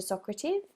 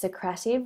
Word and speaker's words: Socrative: haven't already signed up to Socrates or it's actually pronounced socrative when we looked at